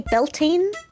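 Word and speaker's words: Bealtaine: the second one now I would say beltin it comes from the Irish word BNA y what does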